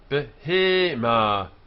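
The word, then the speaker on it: בהמה: Behema, behema, one vowel, two vowels, first syllable, second syllable, behema, cattle. The ha at the end, no mapik, silent, it's feminine, ending in a.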